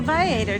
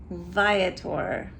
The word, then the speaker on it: Viator: Okay, so it is Viator. Not Viator. I always thought it was Viator, but it's not. It's Viator. I looked it up on their own YouTube video where they pronounce their own name.